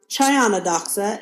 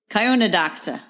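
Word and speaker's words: Chionodoxa: so the next one I pronounce chado doxa and you pronounce it kado DOA and you're probably right and I'm probably wrong but I don't know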